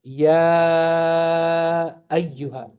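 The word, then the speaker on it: يا أيها: Okay, so this is still ya ayyuha.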